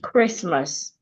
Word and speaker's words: Christmas: Or sometimes C and H can also sound k, as in Christmas.